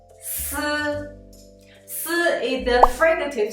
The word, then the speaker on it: 斯: when you pronounce it, the first thing you need to do is let the tongue tip to touch the back of the lower teeth. At the same time, let the air rub out the surface of the tongue and the upper teeth.